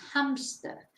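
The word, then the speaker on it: hámster: Hamster, which is hamster. So es exactamente igual la palabra, pero la pronunciación, claro, es diferente porque en español no pronunciamos la H.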